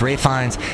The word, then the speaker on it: Ralph Fiennes: And then Ralph Fiennes, always want to call him Ralph because it's spelt that way, but it's Ralph Fiennes.